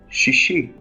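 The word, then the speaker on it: שישי: favorite day of the week and in evil shishi she she or as I said before we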